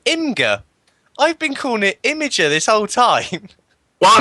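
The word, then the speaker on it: Imgur: so what in Inga I've been calling it imager this whole time well M I'm I'm I'm an old man I don't know what the anything's called it is meant to be pronounced imager but you know like I don't know what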